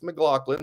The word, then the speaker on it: McLaughlin: name he was like it's mlin like Sarah mcglaughlin there you go um